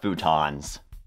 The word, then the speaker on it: futons: Also, their name rhymes with croutons. What's not to love about futons?